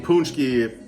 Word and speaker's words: paczki: The name paczki is just weird because it's spelled like this, but it sounds like paczki. Tell me how to spell a paczki. I'd be like P-O-O-N-C-H-K-I-E, not P-A-C-Z-K-I.